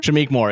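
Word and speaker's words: Shameik Moore: e k oh yeah so it's kind of said how it's spelled so I just I'm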